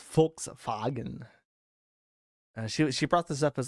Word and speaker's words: Volkswagen: I don't know why she was obsessed with the fact that in German, Volkswagen is pronounced Volkswagen.